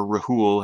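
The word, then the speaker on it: Rhul: the russian guys uh rule or rahul however you want to pronounce i think it's just rule it's r h u l is a nation of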